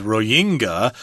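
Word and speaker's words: Rohingya: up before the program we were trying to figure out exactly how to pronounce this real hinga dinga different pronunciations came up but I decided to go with Roy Inga although I may be incorrect there but please bear with me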